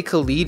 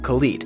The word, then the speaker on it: Khalid: I get a lot of comments from people saying I'm pronouncing Khalid wrong. I'm not. I think that when I say Khalid, y'all think I'm talking about like DJ Khaled. This is a completely different artist, and that's how you pronounce his name, Khalid.